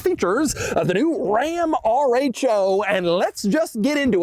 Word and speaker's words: RHO: out right away that rho is how you say it I asked the ram people directly it is not row they pronounced the letters individually r h o but anyway the TRX